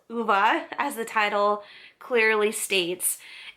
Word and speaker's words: Ove: It's called A Man called Uva. I think that's how you pronounce it. I listened to the audio book of this and that's how they pronounce the name. I at first I thought it was O, but the way that they pronounced it in the audio book was UVA. I think that's how you pronounce it. It's Swedish.